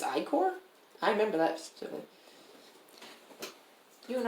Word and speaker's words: ichor: looked it up and i was like it's icore i remember that you and i remember budapest